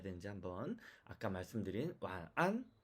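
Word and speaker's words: 晚安: 두 번째는 완안, 네, 이게 정확한 발음입니다. 이게 정확한 발음입니다. 자, 세 번째는 와난 이렇게 읽어도 안 됩니다. 와와 난을 끊어도 안 됩니다.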